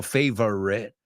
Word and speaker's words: favorite: Hay que oír esa V, ¿ok? Favorite. Y la O, cómetela. Favorite. Yo no digo favorite. Fíjate, la O no la digo. Favorite. No, digo favorite. Dos sílabas.